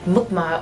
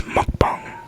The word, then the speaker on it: mukbang: Like mukbang. That's literally how you say it. Yeah. Mukbang. Yeah. Yeah, some people say mukbang. Muk. No. Mukbang. Say it right. It's mukbang. Mukbang.